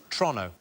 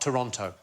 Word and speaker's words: Toronto: So it's Toronto, not Toronto. Oh, is it? Toronto.